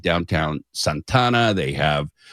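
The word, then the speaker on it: Santa Ana: like you said downtown Santana. They have that's how you say it. Uh Santana, they don't they just mush it together. It's like San Berdo.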